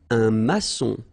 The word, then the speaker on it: maçon: Here you can see that we've got this little cédille beneath the C, okay? And it just means that you will pronounce this C as S, okay? So that's the reason why. It's un maçon. Son, okay? O-N in your nose, nasal, un maçon, all right?